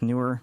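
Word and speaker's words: Neewer: This one's from Newer. And by the way, I have asked the company how they pronounce the name, and it is pronounced Newer, even though it's spelled with 2 E's.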